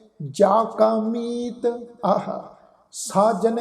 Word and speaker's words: ਜਾ ਕਾ: इसनू साध संगत जज्जे नू कन्ना उपर बिंदी लगा के उच्चारण नहीं करना, बिंदी रहत उच्चारण होएगा। इत्थे नासक उच्चारण नहीं उच्चारण करना।